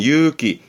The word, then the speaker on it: 勇気: 발음은 유기, 유기.